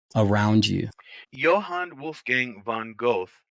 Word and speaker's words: Goethe: he's von It's Goethe, right? It's a go. I used to say it was Goeth. It's spelled T H Goethe or E. something. Yes, yeah, Yeah, Goethe.